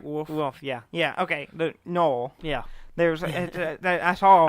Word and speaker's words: gnoll: The Noel. Yeah. There's I saw. I know the G is confusing. Yeah, it threw me off. You could just pronounce Gnol, Gnoll. and I will judge you harshly.